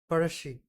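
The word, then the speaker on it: Pazhassi: It is pronounced as parashi.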